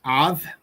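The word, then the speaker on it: אב: This word is pronounced av because, of course, the bet at the end doesn't have a dot in the middle, so it's pronounced av.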